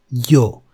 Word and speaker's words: yo: Just notice that it is pronounced a bit stronger than elle. Remember, llover, llamar. But in this case, with the y, we say ya, yo. It is a bit stronger. It's more fricative.